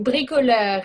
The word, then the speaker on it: bricoleur: Is it bricular? I say bricoleur. It's a French word, Yeah, actually.